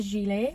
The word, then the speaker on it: gilet: Carol just went, Demi, you keep calling that a gillet. It's a gilet. I was like, what? She was like, yeah, it's pronounced gilet.